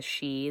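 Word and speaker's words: Sidhe: but it's called she it's pronounced she but it's spelled like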